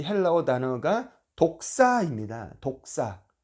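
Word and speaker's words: δόξα: 헬라어 단어가 독사 입니다 독사 발음이 좀 그 그 어떤 동물과 비슷하죠 독사 독을 가진 그 뱅 묵 비슷한 발음이 줘 독사 영광이에요 그러니까 구원에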